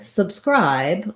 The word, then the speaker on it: subscribe: for the word subscribe we have second syllable stress so that means this sub syllable is short and unstressed it has a reduced schwa sound it's just like the word sub by itself but we just land on it quickly and briefly and where you want to really focus your length and your pure clear vowel is on the scribe syllable what might be challenging